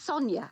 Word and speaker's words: Sonia: yes yeah yeah i like that no it's sonia actually the way it's pronounced as well sonia is it sonia in